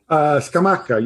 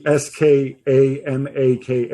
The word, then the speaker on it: Scamacca: Scamacca, yeah, you're doing great. There's no weird accents, there's no weird pronunciations. You can do it phonetically, Scamaka, if that makes it easier for you.